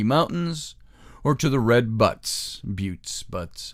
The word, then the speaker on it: Buttes: or to the Red Buttes, however you want to pronounce it, B-U-T-T-E-S. I think it's Buttes.